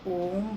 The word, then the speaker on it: ओम: के बताती हूँ कि पहले ओम बोला जाता है, ओ बोलने के बाद फिर माँ, मुंह बंद करके माँ का उच्चारण होता है।